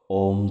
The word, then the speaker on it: ওম: ওম শব্দটিকে আপনারা 3টি ভাগে ভেঙে নিন। ও, অ আর ম। ও, অ আর ম। ও এর উচ্চারণ নাভি থেকে, অ এর উচ্চারণ গলা থেকে, ম এর উচ্চারণ মাথা থেকে। ও এর উচ্চারণ নাভি থেকে মানে ও, অ এর উচ্চারণ গলা থেকে অ, ম এর উচ্চারণ মাথা থেকে ঠিক এভাবে মাথা ভাইব্রেট করবে।